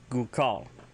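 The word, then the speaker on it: goo'kal: Alright, so throwing knife, Gukal.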